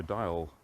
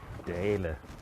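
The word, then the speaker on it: Dijle: Well, that's the River Dial, or as it's called, Dale. Pronounce it in the Dutch.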